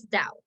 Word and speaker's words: doubt: You pronounce doubt in another way, and also you say solve, is he solved his doubt, right? Or, well, actually, yes, doubt, because you don't pronounce letter B.